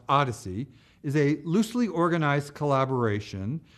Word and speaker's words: OHDSI: components plus data visualizations the observational health data science and informatics consortium pronounced Odyssey is a loosely organized